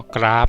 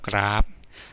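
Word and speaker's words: กราบ: ข้อ ที่ 1 ครับ ก ร อา บ กราฟ นะ ครับ อ่าน ออก เสียง แม่ กบ นะ ครับ กราฟ ส่วน ข้อ ที่ 2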